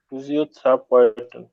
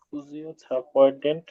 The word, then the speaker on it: Physiotherapeutin: Deutsche কখনো ওয়াই এর উচ্চারণটা ই হয় না, ফুজিও।